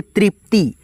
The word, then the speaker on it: तृप्ति: उसके बाद से यहाँ पे त है, तो इसे हम लोग पढ़ेंगे तृप्ति, त्रि। उसके बाद से प का उच्चारण है तो यहाँ पे पी लिखेंगे।